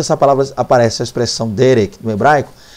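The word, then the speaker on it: דרך: traduzida como caminho né a palavra é Derek Derek a expressão Derek tá ou você pode pronunciar Derek fica à vontade lá para falar como você quiser na aula então a pronúncia aqui é Derek Então essa expressão Derek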